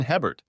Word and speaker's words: Hebert: "My name is Hebert, pronounced A-Bear in Cajun country.